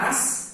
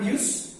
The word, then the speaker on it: us: Subjek we, objeknya us, bacanya us, ya, bukan use, us.